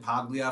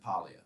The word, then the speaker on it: Paglia: yeah yeah yeah yeah is it pronounced pallia i found that i i said paglia forever and i found out it's polya it is okay interesting